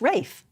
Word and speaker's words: Ralph: Yes, Ralph. And sometimes it's pronounced Rafe. If you're very posh. Yes, but it's spelt the same way. Like Rafe Fiennes. Yeah. Yeah, how are you meant to know which way to pronounce it?